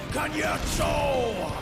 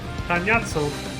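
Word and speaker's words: Cagnazzo: All shall cower before the might of Archfiend Kanyetso! So that's how you say it. Kanyatso.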